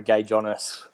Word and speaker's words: Gaidzionis: So the DZ pronounces like a J, so it's Gaidzionis phonetically.